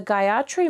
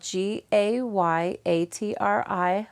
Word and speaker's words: Gayatri: busy so you're thinking of something else the Gayatri mantra has several syllables and I'm going to say them for